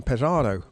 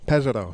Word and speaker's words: Pesaro: Now, by coincidence, your dad pointed out that the Giro will finish in Pesaro on Saturday night. Pesaro, sorry. The superstition doesn't work if you pronounce it wrong.